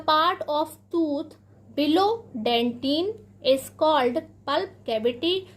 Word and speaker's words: dentin: Second है हमारा डेंटिन। प्यारे बच्चों, इससे कुछ लोग डेंटाइन भी पढ़ते हैं, लेकिन इसका सही जो प्रोनाउंसिएशन है वह डेंटिन है।